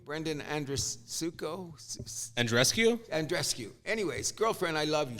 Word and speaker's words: Andreescu: Andreescu.